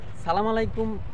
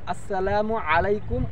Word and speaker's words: আসসালামু আলাইকুম: সালাম আলাইকুম বলতে কোনো শব্দ নাই, ওটা হচ্ছে ভুল, ভুল উচ্চারণ। আর এটা আমরা সমাজে এমনভাবে প্রচলিত যে কেউ ভুলগুলো ধরতে চাইয়াও ধরে না, আর কেউ ধরতে পারে না। সালামটা আসলে হবে কি আসসালামু আলাইকুম ও রহমাতুল্লাহ।